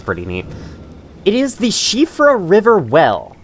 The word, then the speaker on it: Siofra: the shifra river well I believe that is how you pronounce that name some many people have pronounced it CRA which does sound pretty neat but I've heard it's supposed to be pronounced chifra uh I don't know what